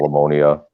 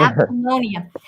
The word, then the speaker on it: Apollonia: Alamonia. Did I say it right? Not alimony. Alimony. Whatever. Apollonia.